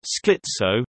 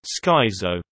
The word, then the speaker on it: schizo: An exception is schizophrenia, which came into English through German, and is therefore pronounced schizo, not schizo.